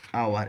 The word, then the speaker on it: hour: ତ pronunciation same, spelling difference, meaning ମଧ୍ୟ difference. Hour, HOUR.